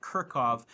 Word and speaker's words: Kirchhoff: Kirkov's laws and that is pronounced Kirkov.